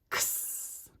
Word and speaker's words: X: The letter X makes this sound, X. It kind of sounds like a K sound and an S sound that's been put together.